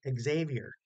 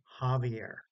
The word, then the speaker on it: Javier: and how about the the name Javier some people pronoun try to pronounce it Xavier you go to the college to Xavier it's Javier it's all magic they